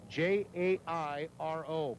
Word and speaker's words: Jairo: Perez spells his name, not Perez, but Jairo, J-A-I-R-O, pronounced Jairo.